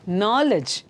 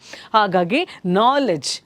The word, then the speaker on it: knowledge: note of that then knowledge knowledge K is silent starting in our in the start knowledge knowledge so K D